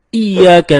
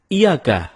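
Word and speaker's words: إياك: nabudu wa iyyaka nasta'in ada yang membacanya dengan Iyakah tidak menekan huruf Ia seperti seperti sebagaimana kita jelaskan tadi bahwa penekanan itu dapat merubah makna kalau kita baca iyakanakbudu dengan menekan huruf ya maka artinya menjadi kepadamu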